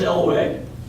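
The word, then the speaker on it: Eluay: This isn't the Elway we know in Colorado. This is a different Elway. It's spelled a little differently, E-L-U-A-Y. Thais Elway, also from guerrilla foundations.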